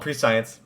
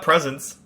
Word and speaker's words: prescience: That's how it's spelled, Prescience. Prescience. It's not presence.